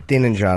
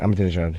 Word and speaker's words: Ahmadinejad: The Iranian president there that most people can't pronounce his name. Ahmadinejad, I think. Ahmadinejad.